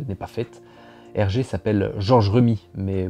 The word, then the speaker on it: Georges Remi: pas fait hergé s'appelle georges rue me mets beaucoup de journalistes le présente en disant georges remi comme s'il y avait un accent aigu comment vous appelez-vous hergé